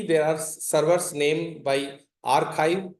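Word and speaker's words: arXiv: So for this like you see there are servers named by archive. XIV is the you pronounce it as Z or AR Z archive client.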